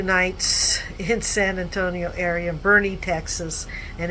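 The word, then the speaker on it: Boerne: in San Antonio area, Bernie, Texas, and it's pronounced Bernie.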